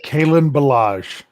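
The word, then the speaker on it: Kalen Ballage: yards a 1.8 average is it callan or kalyn bellage ballage how do you say this guys it's kaelin bellage caitlyn good for me for getting that right you didn't hear that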